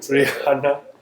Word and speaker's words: Rihanna: The H is silent. Rihanna.